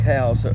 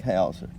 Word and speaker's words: Hauser: It's House with an R on the end of it.